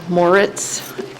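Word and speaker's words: Moritz: //MY NAME IS MORE ITS. THAT'S SPELLED M O R I T Z AND I RESIDE AT THE SHORES.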